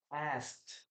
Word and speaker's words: asked: So uh when we pronounce this we say as asked. As asked remember that we don't pronounce in this case the letter E.